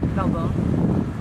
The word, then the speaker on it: Valbona: I think Kevin said Valbona. Kevin said it right.